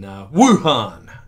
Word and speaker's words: Wuhan: first played and that the pronunciation that we prefer is one really emphasizing the Wu in Wuhan so that's what I